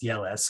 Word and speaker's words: Jelles: It's spelled Jelles. It looks like gels, but I believe it's pronounced Yelles.